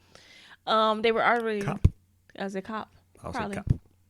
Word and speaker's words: Koepp: writing books takes time, Steven Spielberg and David Koepp, I think that's how you pronounce that guy's name, who was one of the writers. I don't know. Sorry, it's Koepp. They were already... Cop.